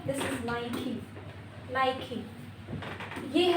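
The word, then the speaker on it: Nike: कुछ common for example कुछ common brand names जैसे नाइक तो ये नाइक नहीं है। निक नहीं है। दिस इज़ नई नई यह है एडडास नो दिस इज़ एडिडस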